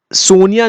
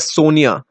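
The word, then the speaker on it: SONIA: एंड यूके में ये सोनिया निकल के आया है। सो Britishers they don't pronounce this as सोनिया, they pronounce it एज सनिया। So just keep that in mind, Indian pronunciation नहीं है ये।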